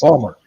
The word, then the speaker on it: Baltimore: Baltimore, Maryland. Pronounced Balmer.